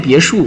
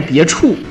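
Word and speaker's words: 别墅: 虽然说都知道念别墅啊，对吧？对吧？也有人要念别处啊，别处，别墅啊，都怎么念啊？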